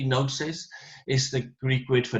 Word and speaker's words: gnosis: The word gnosis, we don't pronounce the G really. Gnosis is the Greek word for knowledge.